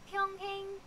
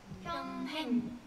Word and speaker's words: 평행: 너의 평행. 평행. 그치. 평행. 행할 때 동그라미 이응.